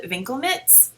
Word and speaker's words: Winkelmitts: They're called Winkelmitts, which is the German pronunciation, and being that my grandmother was from Berlin, I feel like I have to pronounce them this way.